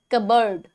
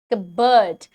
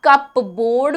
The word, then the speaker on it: cupboard: Now how to pronounce this one as, that's cupboard, cupboard. अब कपबोर्ड भी बोलते हैं इसे बच्चे.